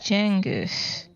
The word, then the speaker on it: Cengiz: So Okay, fun fact about just cut the pineapple into more those people is that Yolanda been saying Cengiz for years, right? His name is actually Cengiz.